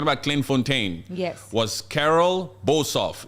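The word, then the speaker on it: Carel Boshoff: Clint Fontaine yes was Carol bosov is it Carol bof am I saying it correctly right here yes Carol boshof Carol boshof you have to say it like an africano huh boshof Carol boshof a prominent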